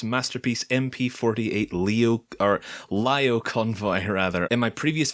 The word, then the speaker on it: Lio Convoy: the upcoming transformers masterpiece MP 48 leo our lyle convoy her either in my previous video when i was talking about this guy when the initial pictures first came out I called him leo convoy but I've since found out that it's actually